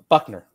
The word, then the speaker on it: Buchner: He pronounces his name wrong, so I always screw it up. Okay, fair. And so, Buckner, yeah. Something and that like that is not how his name is spelled. Right, it's like Buchner. But B-U-C-H-N-E-R. That is not Buckner.